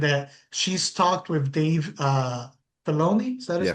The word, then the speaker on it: Filoni: And it was mentioned that she's talked with Dave Filoni, is that Yeah, how Filoni. they Yeah. pronounce it? Yeah, Filoni, about bringing Mace Windu back.